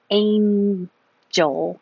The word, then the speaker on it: angel: like hair gel and that reminds me that it's Angel we don't have to say gel but when you say